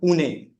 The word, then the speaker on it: Pune: I'm from I'm from Pune. Maharash. That's how you pronounce it. I've been calling it Pune the entire time.